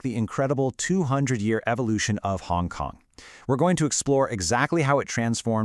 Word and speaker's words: Hong Kong: Xiang Gang, or pronounced Hong Kong in Cantonese, beautifully translates to fragrant harbor.